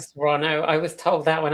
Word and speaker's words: Toronto: It's Toronto. Toronto. I was told that when I went there. They're like, "No, you don't pronounce the T."